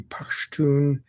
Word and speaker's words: Pashtun: Now, that movement became known as the Pashtun. That's the native pronunciation of Pathan. Pathan was an anglicization. Their group is called the Pashtun Protection Movement, or PTM.